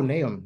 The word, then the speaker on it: Nahum: Oh, Nahum. Yeah, I was thinking something like that. But the pronunciation closely in the Hebrew language is Nahum.